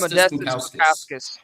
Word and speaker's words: Modestas Bukauskas: I think it's Modestas Bukauskas.